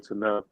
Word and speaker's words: Tunnell: How you pronounce his name? Tunnell.